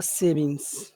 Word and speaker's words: savings: Which syllable has all of the power? Savings. Save. Savings.